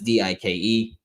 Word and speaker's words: Dike: I don't know how his last name's pronounced, if it's Dyke or Dike. It's Dike.